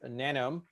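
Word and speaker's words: Nanome: the name of my startup is nano like rhymes with genome my current role is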